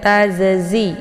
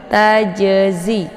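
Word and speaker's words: تجزي: jadi ditekan za-nya ditekannya Jadi bukan tazazi ya ini banyak yang keliru cara bacanya dibacanya tadzi itu bacaan yang salah tapi tajazi keluar di lidah bagian tengah sementara Z keluarnya di ujung lidah sejajar dengan 4 gigi seri bagian atas ya kemudian nafsun Naff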